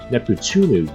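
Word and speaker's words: ネプテューヌ: However, for the character Neptune in the franchise, her name in Japanese is pronounced Neptunu, which is much easier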